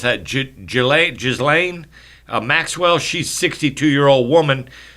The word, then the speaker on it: Ghislaine: How do you pronounce that? Ghislaine Maxwell.